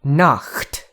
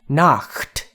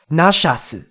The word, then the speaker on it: Nacht: But if you can't, a k sound there is probably a good substitute. You can't pronounce that. But what is not a good substitute is the way they wrote it out in katakana. In katakana, Nacht's name is written as Nashasu.